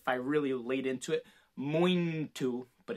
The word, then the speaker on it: muito: sound like if i really laid into it moin to but it's not it's it's just very subtle